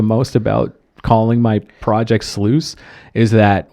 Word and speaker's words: Sluice: project sluice is that we take it for granted that people know how to pronounce that word oh so many people are like louise is that how you because it's like a french thing too they're like and i'm like no man it rhymes like i'm tempted to call the next record rhymes with juice there you go oh